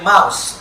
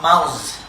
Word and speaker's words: mouse: House, sa, should be pronounced there. Similarly, mouse, not mouse.